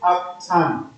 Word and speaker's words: arctan: Or in actual fact, in mathematics this is pronounced as arctan. Okay, I know that as teachers we just say shift tan, that's on the calculator. But the correct mathematical terminology is arctan, like this.